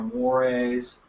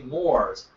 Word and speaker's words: mores: Yeah, because his teacher, I said, no, I'm sorry, it's not Moors, it's Mores.